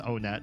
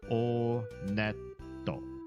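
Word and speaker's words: Onett: It is pronounced Onet. I did check the Japanese pronunciation. And in Japanese, when you go to this first town, they pronounce it Oneto.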